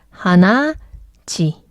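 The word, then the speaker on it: 鼻血: 그래서 하나, 치 발음 힘드니까 하나, 지.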